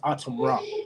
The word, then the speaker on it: ATUMRA: It's pronounced ATUMRA.